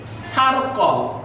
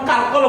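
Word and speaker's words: circle: মত ক আলম্য স যেমন সি আই আর সি এ সার্কল কিন্তু আমরা কার্কলও বলতে পারতাম যদি এখানে সি এ টি ক্যাট হয় তাহলে এখানে কার্কল হবে না এটা কিন্তু হাস্যকর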